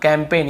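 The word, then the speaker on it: campaign: हम याद रखना है कैंपेन कैम पेन कैंपेन यहां पर भी जी साइलेंट है कैंपेन फॉरेन बहुत से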